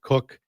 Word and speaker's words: Koch: Uh he pronounces it Cook.